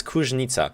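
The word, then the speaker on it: Kuźnica: Kuznica. Fuck, they didn't put the accent on the Z. It's Kuznica. I know that now that I see the properly written city name.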